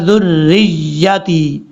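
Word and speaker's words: ذُرِّيَّتِي: را کے اوپر شد ہے، یا کے اوپر بھی شد ہے، را کی شد تو پڑھ لیتے ہیں لیکن جلدی میں یا کی شد چھوڑ دیتے ہیں۔ پڑھنا کیسے ہے؟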